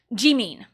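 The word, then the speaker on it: Jimin: sound but like no it's an e sound so it's Gan not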